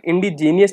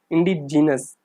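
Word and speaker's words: indigenous: इस वर्ड को हमें इंडिजीनियस नहीं पढ़ना है, इस वर्ड का सही प्रोनाउंस होगा इंडिजीनस।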